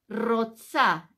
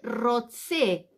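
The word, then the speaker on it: רוצה: si yo soy mujer voy a decir aní Rosa r o t s a roxa o z no importa a mí Rosa la a es femenino y si soy hombre voy a decir Annie roxé en vez de a va a terminar con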